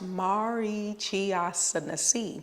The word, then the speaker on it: Marichyasana: we're going to talk about Mari chasi it's pronounced Mari chiai it has 16 vasas and the dristi is